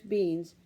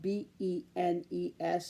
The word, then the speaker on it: Benes: She also took a bath every day, and Nurse Beans, that's spelled B-E-N-E-S, so it might be Benes, arranged for her to have the little hair she had left styled.